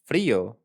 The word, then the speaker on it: frío: Frío, it's a you don't have to vibrate. It's just like a sound of an L and an R at the same time.